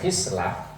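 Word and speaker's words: خصلة: Lafaz khislah membacanya kasril khi dengan mengkasrahkan huruf K.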